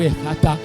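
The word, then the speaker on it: Ephphatha: On peut le prononcer Fata ou Fata. C'est un terme araméen.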